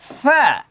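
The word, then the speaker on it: ف: গইন গইন, ফা ফা, পা বলে ফেলি অনেক সময়, পা, পা না, এটা ভুল উচ্চারণ। ফা, এই যে দাঁতটা আপনার ঠোঁটের এখানে লাগবে, খেয়াল করেন, দাঁতটা আপনার ঠোঁটের এখানে লাগবে।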